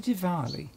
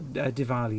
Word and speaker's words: Diwali: I think the W is pronounced like a V.